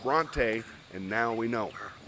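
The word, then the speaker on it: Brontë: learn something expand my horizons and Bronte is pronounced Bronte and now we know if anybody's still hanging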